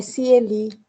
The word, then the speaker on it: Cieli: boa noite, é Cieli. Cieli. Eu tenho uma irmã que é Sueli. Então, por isso que eu falei assim, deve ser Cieli.